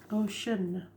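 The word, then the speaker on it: Oshun: what is the problem ocean not spelled like the ocean it's actually spelled o s h u n ocean so what do we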